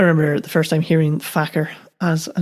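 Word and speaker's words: Farquhar: me if you're unfamiliar Faker is spelled f a r q u h a r it's fairly common I'm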